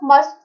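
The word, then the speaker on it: mustn't: Negative of मस्ट का क्या होता है? मसंट। टी साइलेंट है, मसंट। अगर हमें बोलना हो तुम्हें नहीं करना चाहिए था ये चीज, तो हम क्या बोलेंगे?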